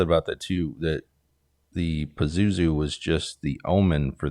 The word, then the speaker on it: Pazuzu: pazu or piz how do how do we pronounce it Pazuzu Pazuzu um at first I was kind of intrigued